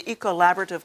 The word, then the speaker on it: Ecollaborative: But it's also about a consortium within this university that's been put together, which is do you pronounce it the Ecollaborative? Yes, the Ecollaborative Colloquium on Climate Change.